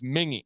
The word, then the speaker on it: Mingua: It's spelled like Mingua, but it's Mingy.